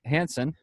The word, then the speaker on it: Hansson: But anyway, I'm here today with bassist John Hansson from Fear the Masses. What's going on, man? What's up, man? How are you? Good. I pronounced that right? You did. Okay. Yep. Think Hansson like the Hansson brothers.